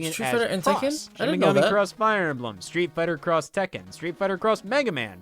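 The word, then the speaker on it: Street Fighter X Tekken: between two words to symbolize a crossover and pronouncing again across fire emblem street fighter cross tekken street fighter cross mega man project cross zone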